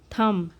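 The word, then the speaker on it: thumb: कि एक आदमी का थम और इसे थम प्रोनाउंस करते हैं यहां पर बी साइलेंट होता है तो इसका मतलब होगा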